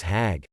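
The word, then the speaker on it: חג: for performing hajj interestingly the hebrew word hog pronounced as hag means pilgrimage and is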